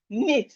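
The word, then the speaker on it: knit: Nit. The K is silent.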